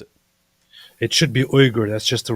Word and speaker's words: Uyghur: How's he pronounce it? It should be Uyghur. That's just the right way. It's Uyghur. Uyghur. It's not I Yuga.